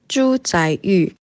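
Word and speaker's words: 朱载堉: by the name of, let me just phone a friend for the correct pronunciation. Zhu Zaiyu.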